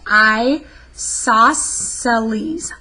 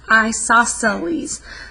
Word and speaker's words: isosceles: c l yes and it's pronounced i saw celes isosceles triangle an equilateral triangle